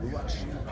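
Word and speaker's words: רוח: First of all, I need to say that those foregoing words, the Mitnicks really have ruach. It's pronounced ruach.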